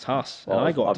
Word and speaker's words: Haas: How do you say it? Haas or Haas? I say Haas. Apparently it's Haas.